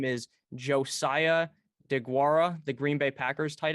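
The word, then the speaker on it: Josiah Deguara: interested in at all josiah de guara is how you say his name i was aware that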